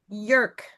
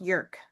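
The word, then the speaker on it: Jurk: So here's last name, Jük. It's J U R K but J U R K but it's pronounced Jük.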